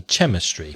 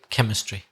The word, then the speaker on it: chemistry: hear my students say Chema stre but you don't pronounce the CH do you it's the cut sound like cut like in Christmas ch or Christina yeah chemistry and there's also some